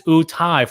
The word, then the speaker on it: Utai: But it's Utai for future reference. How do you spell it? Utai. Utai. So yeah, like Udas with an I on the end.